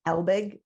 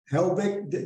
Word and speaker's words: Helbig: And we've got the expert here, Helbig. Did I pronounce that right? Helbig, yeah. Helbig. Helbig is an award-winning speaker and author, advisor, and trainer.